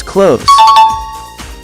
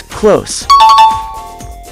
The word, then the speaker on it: close: like close the door pronounce it with a z at the end hence close but if you're referring